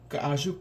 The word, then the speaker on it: K'azh: And a stone trail marker is called Ka'aju Kalnigi. And the word Ka'aju is where that letter name comes from, Ka'aj. It's just Ka'aju without the last U sound at the end of it.